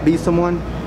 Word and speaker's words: Besomeone: And then I run my main account, which is Instagram, and that's just at Besomeone, BESOMEONE. Simple, just like it sounds, just Besomeone.